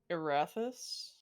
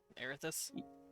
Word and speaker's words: Erathis: relationship with uh erathis that get your atheist i i don't know how to pronounce that which is the guys e-r-a-t-h-i-s and inventions but i didn't keep that because like that spelled like that air this yeah but i i